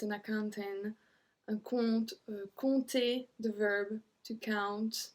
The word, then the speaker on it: compte: So all of them, if you see this start of the word, so C-O-M-P-T, no matter what's after, we don't pronounce the P.